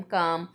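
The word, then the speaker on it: calm: हम कहेंगे बी काम सी ए एल एम काम एल साइलेंट है इसलिए इसे काम पढ़ा जाता है बी काम बी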